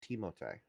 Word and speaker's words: Timothée: It's like how people keep mispronouncing Timothy Chalamet's name. Yeah. Yeah, Yeah, his that's a first funny name's one. not Timothy, it's Timothée.